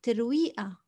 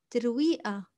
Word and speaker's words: ترويقة: ترويقة is breakfast. We pronounce the قاف as A in Lebanese. So ترويقة. ترويقة.